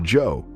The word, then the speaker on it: Joie: Joseph, or Joe as he prefers to be called, which is pronounced similar to Joe, shares his life with WallyGator, an emotional support animal like no other.